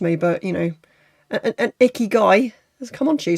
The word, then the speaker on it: ikigai: your icky guy and for some reason I kept reading that as ikagi and I have no idea what I was pronouncing it as ikagi because it doesn't even spell like ikaki icky guy I remember icky guy because it just makes